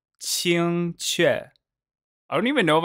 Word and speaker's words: Qingque: Not Xingku, not QQ, Qingque.